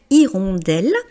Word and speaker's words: hirondelle: Donc c'est comme si la première lettre de ce mot c'était la lettre i. Et donc irondelle, vous voyez c'est féminin, c'est une irondelle.